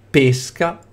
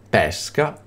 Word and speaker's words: pesca: vocale in questo caso l'accento può essere di due tipi acuto e per indicare la pronuncia chiusa e grave è per indicare la pronuncia non c aperta pesca pesca o pesca Quindi se sono una